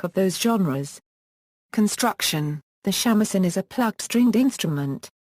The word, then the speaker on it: shamisen: the shamisen or samisen also called sangjun is a three stringed japanese